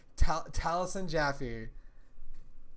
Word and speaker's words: Taliesin Jaffe: Taliesin Jaffe rhymes with taffy.